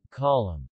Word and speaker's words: column: The letter N is silent in the final MN. Autumn. Column.